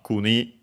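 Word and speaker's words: 国: And yeah, so kuni gamae, from kuni, unaccented, which means country.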